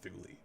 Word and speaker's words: Thule: It was pronounced Thule.